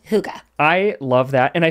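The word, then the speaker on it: hygge: I said well but it's not pronounced like we would read it no it's Huga Huga which means what it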